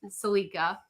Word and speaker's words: Celica: And then Jacob said that's what you guys, that's how you pronounce it, is Celica.